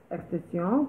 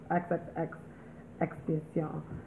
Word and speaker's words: XXXTentacion: Cause I used to just say Extension, but I guess it's when I watched the video, he said it himself, was XXX Extension.